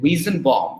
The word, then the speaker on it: Weizenbaum: Joseph, I think Weizenbaum, that's how we pronounce it.